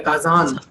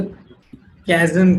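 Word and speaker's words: 火山: वाला, ये रहा काजान, इसको अगर इंग्लिश के प्रोनाउंसिएशन में पढ़े तो कैजन, कैजन, कैजन पता नहीं कैसे पढ़ेंगे इंग्लिश प्रोनाउंसिएशन में, बट जिसको जापानीज नहीं आती वो पढ़ सकता है। तो लेकिन जापानीज प्रोनाउंसिएशन में हम इसको काजान पढ़ते हैं, काजान, ठीक है। नॉट काजन और केजन और केजान, नो, काजान, that's it, काजान।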